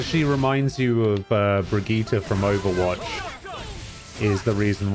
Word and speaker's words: Brigitte: you all off i said it the way you're supposed to say it brigitte it's over here hmm